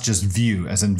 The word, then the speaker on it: Vue: is called view Jas and view Jas is pronounced just view as in V iew it's an open source